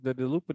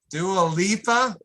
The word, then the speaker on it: Dua Lipa: Was this the Delupa Dialupa? Why can't I never pronounce her name right? Dua Lipa.